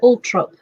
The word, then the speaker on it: Althorp: She's from Althorpe, although apparently they call it Altrop, and I've no idea why.